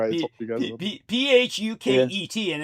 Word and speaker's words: Phuket: Remember I told you guys about Phuket, and it's actually pronounced by the Thai people as fucky.